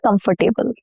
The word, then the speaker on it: comfortable: No, not comfortable.